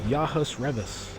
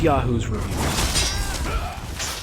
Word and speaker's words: Yahu's Revus: people's fault that that like everybody says yah Revis yah welcome to the stream yah Revis and I have to say well close enough but it is Yahoo's review so if I mispronounced